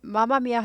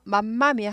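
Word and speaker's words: Mamma Mia: 뮤지컬 공연이나 그래서 이거를 마마미아 하죠 맘마미아 하지 않아요 맘마미 하지 않는데 6교나 어디 지나갈 때 보면 항상 한국말로 맘마미 마마미아 맘마미아로 나오죠 한국말로는 맘마미아 하는데 m이 두 개 있을 때 m 하나만 발음해요 그래서 맘마미아 아니고 마마미아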